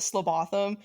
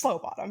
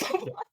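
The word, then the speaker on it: Slowbotham: It's Yeah, it's Detective Sergeant Bung and Detective Constable Slo I would pronounce it Slotham, but it's Slowbottom. Yeah, because of their accent. It's Slobot.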